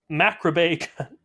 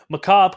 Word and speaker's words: macabre: In a very macrabe, that's not how you say it, macabre kind of way.